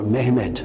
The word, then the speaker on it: Mehmed: with the Turkish Sultan Muhammad, or Mehmed as the Turks pronounce it, Muhammad the Conqueror, Muhammad